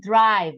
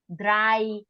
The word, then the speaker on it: drive: eight Drive drive then you can listen drive right it's not just dry dry yeah no it's dried okay drive okay so it is very it's very important to pronounce the consonants at the end because sometimes many people